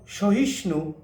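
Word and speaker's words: স্বাহা: ফ আকার ফহা অর্থাৎ ব এর একটা টান থাকবেই তাহলে উচ্চারণটা সঠিক ভাবে হবে তাহলে সহ তিন পুত্র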